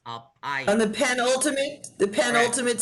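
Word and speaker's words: אלפיים: So the emphasis is not on the last syllable, but under the next it's on the next last syllable. So it's Alpayim.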